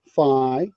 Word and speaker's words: Fey: name is Brian Villar I am f ey Phi or Fae I guess I change the pronunciation some years ago to to adjust to other people so Brian say at